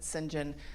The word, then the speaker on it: St. John: Um, and so she really feels saved and held by her natural surroundings um until um Singhen, his it's pronounced St. John, but Singinjen um finds her and lo and behold, she discovers some relatives who come out of the Moors.